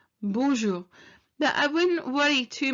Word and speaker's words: bonjour: ones that people slightly worry about about the pronunciation of it so it's bonjour bonjour but i wouldn't worry too much if you